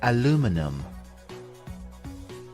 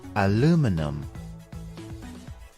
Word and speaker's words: aluminum: have two different pronunciations the American English pronunciation is aluminum aluminum and in British English